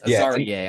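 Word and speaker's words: Azareye'h: And it's Azariah. I said it wrong. It's Azariah Thomas.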